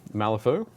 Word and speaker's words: Malifaux: But yeah, Malifaux is spelled just like there on the box.